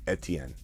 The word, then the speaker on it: Etienne: I know that's how a lot of people say it, Etienne. We call it ETN.